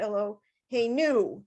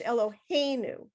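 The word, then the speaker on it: אֱלֹהֵינוּ: in the hay so after the two dots which is the a sound there's a vertical mark that that is telling us that that is the syllable in the word that gets the emphasis so it's not like elohim you know it's not elo hey new it's eloheinu if that makes any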